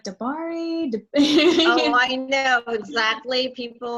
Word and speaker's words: de Baere: it's a tricky one it's um and it's uh dear is my last name okay dear um I